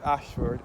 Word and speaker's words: Ayshford: So, Holy Innocence Church is situated on Ashford Long Road. As I said before, this Ashford is spelled A Y S H F F O R D.